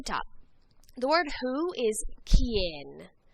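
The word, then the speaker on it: quién: the word who is Ken Ken remember anytime there's a Q and youu together it makes a c sound so make sure you're pronouncing these correctly K Ken and we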